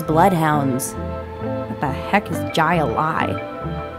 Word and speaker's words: Jai-Alai: What the heck is Jai-Alai? It's pronounced Highline.